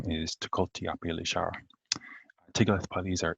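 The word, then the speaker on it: Tiglath-Pileser: name is to cultipilishar tigoth palesar is the hebrew way of pronouncing his name and i think he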